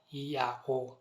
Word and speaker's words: Yahweh: fragment it is rendered Yahweh. What this means, ladies and gentlemen, in summary, is that Yahweh must be the pronunciation that the ancient Israelites used to refer to our Creator.